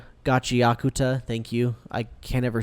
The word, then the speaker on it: Gachiakuta: And yeah, that said, I start I kept watching Gachikuta. How do you say it? Gachiakuta. Gachiakuta.